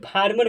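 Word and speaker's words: farmer: ठीक, याद रखिएगा, एक साथ रहता है, तो जो ए आर है उस ए आर को आर प्रोनाउंसिएशन कर दिया जाता है, तो इसे फार्मर कहा जाएगा।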